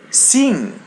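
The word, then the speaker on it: sim: There's letter I. We pronounce it as e in Portuguese. So it be c and m or am comes after. So we pronounce it as a light n. So it be sing.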